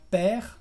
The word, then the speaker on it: père: Lo vas a encontrar mucho en palabras que tienen una consonante final pronunciada y una E al final. Por ejemplo, en las palabras père o mère, que hemos visto al principio.